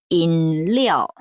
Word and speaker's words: 饮料: 왜냐하면 그 N 발음하고 L이 연결이 되기 때문에 니아오라고 읽지 마시고 리아오. 요거 중요합니다. 인리아오.